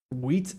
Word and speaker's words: wheat: I say it with a very unnecessarily strong T almost as if I was British because you know British people pronounce their te's way stronger than people from America the United States. Um so I say wheat in Minecraft instead of just like how like I don't usually